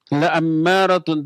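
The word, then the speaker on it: لَأَمَّارَةٌ: ammaratun tadya ammaratun saja ada huruf la lanya dibaca pendek maknanya pasti maknanya benar-benar maknanya sungguh-sungguh bukan main-main ada Inna ada la la amaratun dibacanya lanya pendek bukan panjang kalau lanya panjang malah sebaliknya maknanya menjadi tidak kalau la pendek jadi pasti kalau la panjang jadi tidak maka jangan salah baca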